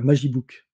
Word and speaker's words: Magibook: Dont j'ai la propriété, qui s'appelle un mag e-book, un Magibook, MAG-e-book. Ah oui. Donc, quand tu le prononces un peu, rapidement, ça fait Magibook, voilà.